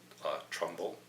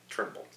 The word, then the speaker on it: Turnbull: Netanyahu and Turnbull, it's funny because when Trump hung up on him, he called him Trumbull, and his name is Turnbull. That's, you know, but I'm being very careful to say it right. Turnbull.